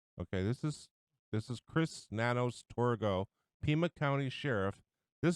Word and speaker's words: Nanos: And this jerk, this Sheriff Torgo, is Nanos. I know his name is Nanos. Rhymes with Manos.